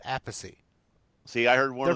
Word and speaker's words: Appice: See, but now I've heard one of the brothers Carmen actually pronounces it a piece, and Vinny pronounces it Appice.